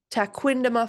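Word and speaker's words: Tequendama: Taquandama Falls. Taquindama Falls.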